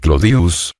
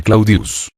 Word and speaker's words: Claudius: Claudia deseoso de popularidad decía Llamar clodius que era como el pueblo la mayoría pronunciaba el nombre claudius la simplificación del diptongo